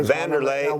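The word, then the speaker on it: Wanderlei: say his name well vanderlei silva is what we uh van der ley yeah but you guys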